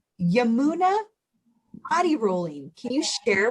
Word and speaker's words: Yamuna: i was reading your profile and it says yamuna body rolling can you share what that is that sounds so interesting yes i have a ball right beside me so it is it's pronounced yemena and everyone gets that one slightly off so